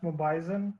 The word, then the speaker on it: Mobizen: on Wednesday fish are supposed to be pronounced mobizen because of mobile but who cares yeah